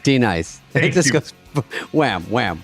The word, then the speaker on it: Denise: D-nice. It just goes wham, wham, wham, wham. And then she finally goes, D-nice.